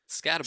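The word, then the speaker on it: Skattebo: Scatabo over 60 yards, and you said his name wrong. So I disagree. Isn't it like Scatabo? It's Scatabo.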